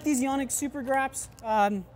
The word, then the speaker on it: Grap: like these yonic super graps um it is grap by the way not grip I didn't mispronounce that uh